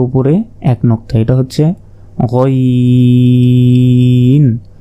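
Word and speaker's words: غين: এক নক্তা এটা হচ্ছে গাইন হলকের শেষ ভাগ হতে গাইন উচ্চারণ হয় এরপর উপরে এক নক্তা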